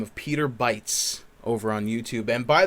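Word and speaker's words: Bytes: those yes yes peter bites um with a uh that's spelled b-y-t-e-s uh you know like a like a like a megabyte exactly um so and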